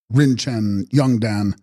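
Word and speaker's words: Rin-chen-hbyung-ldan: Text: Rinchen Byung Uldan, pronounced Rinchen Yungdan, Sanskrit Ratna Sambhava, I.C., born of a jewel.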